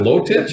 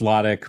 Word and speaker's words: Lotich: I forgot to pronounce is it low titch I forgot that say how you pronounce your name no it's logic but it doesn't matter